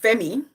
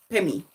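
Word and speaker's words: Phemmy: So in English, it would be pronounced Femi, but in Chinese, it will be pronounced Pemi.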